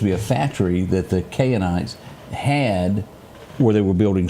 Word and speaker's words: Canaanites: And I'm pronouncing this Canaanites.